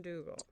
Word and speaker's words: Dugle: The Emmy nominated best-selling author Don Dooall has a book coming out.